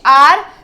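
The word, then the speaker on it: hour: Next, he is dash आर late. तो यहाँ पे एच साइलेंट है और ओ का प्रोनाउंसिएशन आ रहा है, तो यहाँ पे भी एन आएगा।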